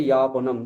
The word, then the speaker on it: যাপনম: যাপন, এখানে অন্তর্জ লিখছি আমি, অন্তর্জ লিখলেও আমি উচ্চারণ করছি বর্গীয় জ, যা বলছি, তাই না? কিন্তু সংস্কৃতে ইয়াপনম, জীবন ইয়াপনম, ওই জন্য যদি এরকম লেখা থাকতো আমি তাহলে ইয়াপনমই বলতাম, তাই না?